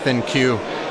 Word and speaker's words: ThinQ: G 7th in cue I've been pronouncing it think this whole time and I guess they're gonna go with the thin cue moniker so kind of see